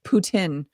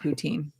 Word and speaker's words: Putin: people out east that it's Putin not poutin but that e is